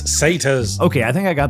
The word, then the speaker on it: satyrs: jar it's pronounced Anar say tires it's satas okay I think I